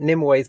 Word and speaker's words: Nimue: I'm not going to like research Nimue. her. any further. Just Nimue. Nimue. Nimue. Nimue. Like Nim and Way.